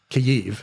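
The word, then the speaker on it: Kyiv: did you make it they call it kiv instead of Kev because they're getting away from the Russian pronunciation used to be Kev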